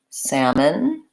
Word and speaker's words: salmon: more about some other words that have the silent L so we had walk and talk often is between an a and another consonant so for example we had walk and talk we are in the same scenario we have calm and palms we have salmon and in that case